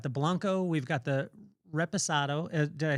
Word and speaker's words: Reposado: We've got the Blanco, we've got the Reposado. Did I say it right? We got Reposado, yep.